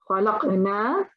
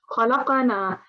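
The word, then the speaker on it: خلقنا: For example, we have khalaqna and khalaqana. Now that could be a mistake when, for example, you also want to pronounce or jerk for the qalqala. Don't jerk so strong that it comes into a fatha.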